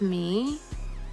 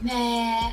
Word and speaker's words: Meghan: I feel like the focus is starting to shift off of me. Maybe in editing you'll fix it. People were saying meh. It's not meh. It's pronounced me. The H is silent.